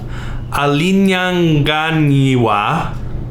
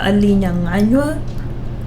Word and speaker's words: alinyanganywa: Mtu nguyas alinyanganiwa kitungu na mbringanya. Yeah, you did great. Apart from the alinyanganywa. I'm sorry, what? Alinyanganywa. Alinganyanywa. Nywa? Alinyanganywa.